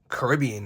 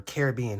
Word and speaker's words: Caribbean: Caribbean, or Caribbean, however you say it. Caribbean's the proper way to say it, because no one says Royal Caribbean. You say Royal Caribbean.